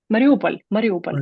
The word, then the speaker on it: Mariupol: And there's a particular example that stood out, and it was how do I pronounce it? Mariupol? Mariupol, yes.